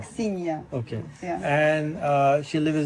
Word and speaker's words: Aksinya: Aksinya. Is that same as Ksenia? Not Aksinya is different. Aksinya.